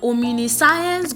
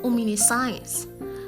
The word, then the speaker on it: omniscience: is not ominous science the word is omniscience omniscience om Nations yes don't be shocked that's the right pronunciation omniscience you can see the guide there you can go by that it's a Tetra syllabic word it has four syllables omnisions okay and not